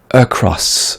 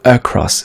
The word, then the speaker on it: across: Ce mot-là se prononce across, ok? Across. Sébastien a tendance à le prononcer across parce qu'il s'écrit avec un A.